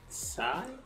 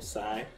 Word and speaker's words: Tsai: Tsai? Will Tsai? So I'm pretty sure the T is silent. Will Tsai.